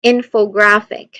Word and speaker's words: infographic: Infographic, you give the strongest emphasis to in and a noticeable but lesser emphasis to graph. So the middle syllable fa and the final syllable k, ik should be quick and unstressed.